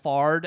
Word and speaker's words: Fard: on behalf of soin or I go fard and then I spell it out F ard because you don't know